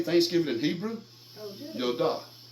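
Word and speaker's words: ידה: Yodah. Yodah. It means to worship with extended hands. And it's spelled with a yod, a dalet, and a hey.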